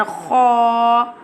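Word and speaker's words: خ: Ha pronounced from the middle part of throat, and kha pronounced from the top part of throat.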